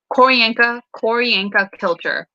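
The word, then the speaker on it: Q'orianka Kilcher: Colin Colin Farrell and okay, I will pronounce this name as best as possible. Koryanka Kilcher.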